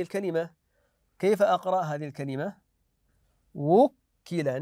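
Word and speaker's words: وُكِّلَ: كيف اقرا هذه الكلمه وكل ناتي بالواو والضم في الواو وكل بكم الذي وكل الذي وكل بضم الواو عند النطق بها حتى تبين ايضا كلمه اقراوا لي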